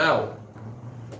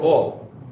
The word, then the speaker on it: awl: A Martseya itself means this tool over here, the owl. All, how do you pronounce it? All. Not owl. All. AWL, this guy, pretty scary tool.